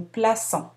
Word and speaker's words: plaçons: Remarquez le C cédille. On prononce habituellement le C comme un K devant les voyelles du mot auto, A, U et O. Lorsqu'on ajoute la cédille, on prononce comme un S. Nous plaçons.